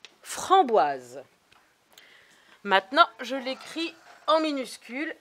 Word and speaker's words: framboise: ça ça s'écrit frambois pour que le s il se prononce on a besoin du e muet framboise maintenant je l'écris en